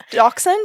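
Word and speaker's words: dachshund: count a dashound puppy Doxon that's how you say it Doxon okay oh my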